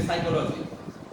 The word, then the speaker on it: psychology: And we know there are different spellings like psychology. Psychology, P is not pronounced here.